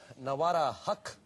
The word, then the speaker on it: Nawara Haq: Nawara Haq, right? Yeah. That's how it's pronounced.